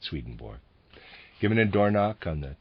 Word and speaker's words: Swedenborg: It's entitled Jakob Boehme, Paracelsus, and I'm going to pronounce it this way, Swedenborg. It's properly pronounced Swedenborg or something to that effect, but I will be pronouncing it Swedenborg.